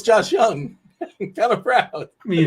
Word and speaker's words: Jung: about Josh Jung now I know his name is young but if I say young people might go type it in y o u n g it's Jung it's spelled Jung so Josh Jung yeah is